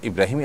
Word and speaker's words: ইব্রাহিম: ইব্রাহিম এটাকেই আব্রাহাম বলে থাকেন ইংরেজরা। অতএব আপনি সে অর্থে যদি ইব্রাহিম রাখেন এবং আপনার ইব্রাহিমই আপনার নিয়ত থাকে, এটার কোনো সমাজে আপনি আসেন